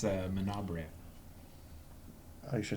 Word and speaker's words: Menabrea: I think it's Manabrea. Are you sure it's not Bray? I mean, there's an a at the end of that.